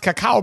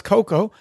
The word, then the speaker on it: cacao: First of all, I've never heard it pronounced cacao before. I always thought it was cocoa.